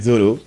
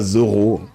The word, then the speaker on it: Zoro: final on rigole mais il dit Zoro. C'est comme Luffy, on devrait écrire L O 2 F I si on voudrait vraiment pousser les français à le prononcer correctement. Donc c'est rigolo de dire Zolo mais il s'appelle Zolo s'appelle pas Zoro.